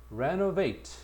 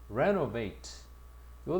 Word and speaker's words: renovate: 그다음에 renovate 강세가 앞에가 있다. renovate요 단을 별표 두 개.